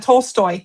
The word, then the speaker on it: Tolstoy: 10 divine quotes from Leo Tolstoy. I hope I said that Tol- right. Tolstoy. Yeah, you said it right.